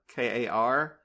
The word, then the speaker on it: Kar: Oh, it's the one that ends with, like, there's a character named Kar, K-A-R, and then, like, they teach the crows to say her name.